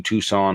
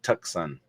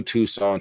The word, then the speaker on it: Tucson: you know what's crazy I pronounce it like when I be trying to remember how to spell it I'd be like tuxon tuxon and I still typed it in wrong but it was